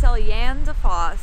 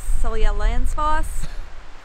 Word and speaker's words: Seljalandsfoss: We think that this is pronounced Seljalandsfoss. Seljalandsfoss.